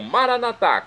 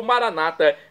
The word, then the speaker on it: Maranata: é onisciente e agora eu clamo maranat como dizemos nós católicos ou Maranata como dizem nossos irmãos separados os evangélicos ou protestantes não importa a pronúncia